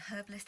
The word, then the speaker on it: herbalist: They don't pronounce this the H like we do.